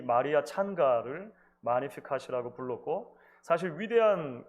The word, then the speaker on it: Magnificat: 오랜 기독교 역사 속에서 이 마리아의 노래는 마리아의 찬가 또는 마니피캇이라고 불려져 왔습니다. 영어식으로 읽으면 Magnificat이라고 읽기도 하는데요. 원어에는 마니피캇이 훨씬 가까운 것 같아요.